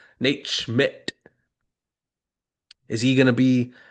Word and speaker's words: Schmidt: Is Nate shit? Is Nate shit? I'm not disrespecting him. I just mispronounced. Nate Schmidt.